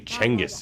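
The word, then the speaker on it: Genghis: crew like just that you know it's gingas Khan yeah but he's supporting my my rating it is actually jingus jingus it's actually chenis if you want to say it the proper way the pronunciation Nazi once's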